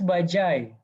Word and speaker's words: Bajaj: So what is bajai? Walaupun tulisannya bajaj, tulisannya dibacanya bajai.